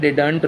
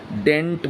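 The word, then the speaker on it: didn't: डिडंट नहीं होता है, डिडंट रॉन्ग प्रोनाउंसिएशन है, डेंट बोला जाता है। क्या बोलते हैं? डेंट बोलते हैं, डिडंट नहीं बोलते हैं।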